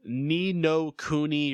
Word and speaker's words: Ni no Kuni: Ni no Kuni, Wrath of the White Witch.